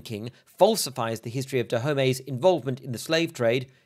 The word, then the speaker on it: Dahomey: My pronunciation of Dahomey follows the French pronunciation rather than Dahomey, since it is a word which was invented by the French.